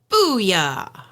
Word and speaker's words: Bulla: Booyah! She's not just making an exclamation, folks. That's the name of the restaurant. When you look at it, it's not spelled like that, but that's how it's pronounced.